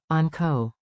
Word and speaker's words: onko: Clap 2 beats, on ko. On ko. Now say it with a rising question tone.